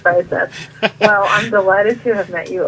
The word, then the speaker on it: Breiseth: Breiseth.